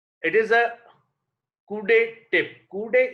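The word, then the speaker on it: coudé: Coude is a French word and pronunciation is coude.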